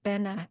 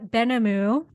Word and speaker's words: Benhamou: you to my newfound friend oh Bena oh my goodness how do you say your last name benamu I kind of probably figured that out but